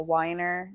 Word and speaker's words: Weiner: Facebook I am weiner w-e-i-n-e-r spelled like weiner pronounced like Weiner and then you can